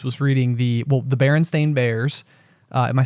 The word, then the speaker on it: Berenstain: famous mandela effect right where everyone thinks it's s-t-e-i-n but actually it's s-t-a-i-n and no one everyone's like no that's not how it's spelled and it's like well look and you're like oh my gosh everybody thinks it's the berenstein bears right that's the berenstain bears right i think and